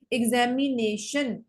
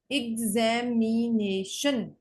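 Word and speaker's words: examination: एग्जामिनेशन, एग्जामिनेशन, नेशन ज्यादा forcefully pronounce किया जाता है, एग्जामिनेशन।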